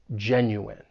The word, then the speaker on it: genuine: When pronouncing this word, it has three syllables. The stress is on that first syllable. And just keep in mind that the ne at the end of the word is pronounced in genuine. Genuine.